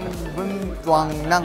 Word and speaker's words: Tân Binh Toàn Năng: (TL/N: Đông Quan is teaching JUSTB how to pronounce the Rookies' group name) ĐÔNG QUAN: Right! Right! That's absolutely correct! JIMIN: "Tan Binh Toan Nang!"